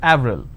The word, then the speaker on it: Avril: In French, it's pronounced as Avril.